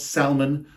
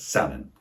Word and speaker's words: salmon: salmon you heard right the L is not pronounced it's not salmon but salmon in English we have